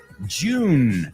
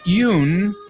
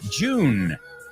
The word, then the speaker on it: June: Job. Jerry. Jelly. June. Not Yoon. June.